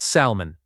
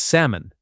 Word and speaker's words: salmon: The letter L is silent here. It is not salmon. It is salmon.